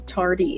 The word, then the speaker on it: Tardy: So please, please everybody look up David Michael Tardy. It's exactly how it's spelled. T A R D Y like your tardy for school, right?